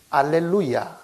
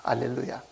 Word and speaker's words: 알렐루야: 알렐루야 이렇게 한 거예요. 알렐루야. 이 발음을 라틴어로 가져가고 지금 우리 킹제임스 같은 영어 성경에도 알렐루야 이렇게 하는 거죠. 그러니까 할렐루야는 히브리 말이고 알렐루야는 헬라어입니다.